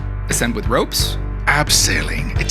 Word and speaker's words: abseiling: Abseiling. It sounds cooler. Say it properly. Abseiling, got it.